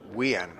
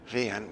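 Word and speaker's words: Wiaan: Vian, or Wian, but it is Vian. With he pronounces it, or his mum pronounces it, his parents, with a V.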